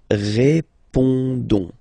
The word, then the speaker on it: répondons: Don't pronounce the final S. You only pronounce this on sound. So you get répondons. Nous répondons. Nous répondons.